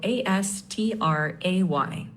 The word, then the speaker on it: astray: Pronunciation is astray with the stress on stray.